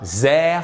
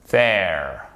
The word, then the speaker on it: there: Et c'est pas there, c'est there.